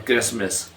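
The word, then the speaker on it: Christmas: हैं सॉफ नरम करना क्रिश्चन और क्रिसमस इसमें भी टी आता है लेकिन टी क्या है साइलेंट है टी के बाद हमारे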